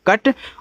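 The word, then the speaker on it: cut: कम सी यू टी तो इसको क्यूट नहीं पढ़ेंगे क्यूट नहीं पढ़ेंगे इसको कट पढ़ेंगे क्योंकि देखो जब दो कंसोनेंट्स के बीच में आपका यू होता है तो यू का उच्चारण नहीं करते हैं तो सी से आपका क हो जाएगा टी से आपका ट ये आपका हो गया कट और कट का मतलब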